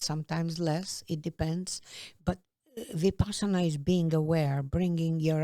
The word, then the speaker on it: Vipassana: Vipassana. So is meditation a part of your life? Yes. How often do you meditate? Well, possibly daily, possibly an hour a day, but sometimes less. It depends. But Vipassana is being aware, bringing your awareness in your